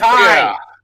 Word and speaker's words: Tay: Britt Baker takes on Ty Baker. Yeah, Britt Baker. Yeah. I do hope that Tay gets a good match out of this, but it's Ty, whatever.